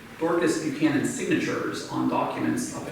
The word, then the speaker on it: Dorcas: But they talk, one of them is spelled D-A-R-C-H-A-U-S, and Mary Lou says it's because this woman would have had a pretty thick Irish accent, and it's Dorcas, you know, is how she would have said her name.